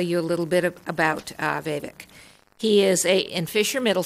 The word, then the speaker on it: Vivek: So that we all pronounce his name correctly, I'm going to have him say it. Vivek Sarkar.